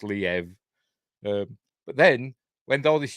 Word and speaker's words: Liev: than him but for years and years I've pronounced it leave Schreiber then I was told it's pronounced Liev but then when all these Ukraine stuff started